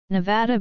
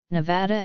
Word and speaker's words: Nevada: the world the name Nevada comes from the Spanish Nevada meaning snow-covered after the Sierra Nevada most Nevadans pronounce the second syllable of their state name using the trap vowel many from outside the